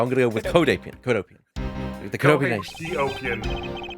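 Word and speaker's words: Cohdopian: I've always said it like Codhopian, but that's Codhop. definitely wrong. You're right. I looked at the Codopian. spelling now. You're right. Okay, so Codopian Embassy.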